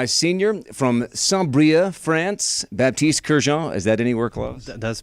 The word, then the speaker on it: Baptiste Kerjean: I'm joined by a senior from Saint-Brieuc, France, Baptiste Kerjean.